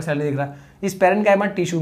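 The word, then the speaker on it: parenchyma: पहला है पैरेन्कीमा, किसकी मां? पैरेन्कीमा। दूसरा कॉलेन्कीमा, भाई पैरेन्काइमा कॉलेन्काइमा, नहीं तो एग्जाम में भी गलत लिखोगे। अरे लिखना तो सही है, प्रोनाउंस सही किया करो, ठीक है।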